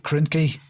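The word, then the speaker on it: Krynky: Uh it's headlined uh UK intel behind Ukraine's disastrous uh ki krinki. Is that how you pronounce it?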